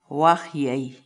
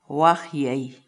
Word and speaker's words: waqyay: de videos en la que te enseñamos a pronunciar algunas palabras en quechua. Así que nuestra palabra del día por hoy es... Wajyei. Wajyei.